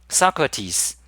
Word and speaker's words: Socrates: Socrates. That's how you're supposed to pronounce it.